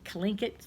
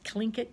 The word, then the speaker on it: Tlingit: to these time this clink it try this so it's well it starts with the tea but it's pronounced with a K this clingy tribe lived in the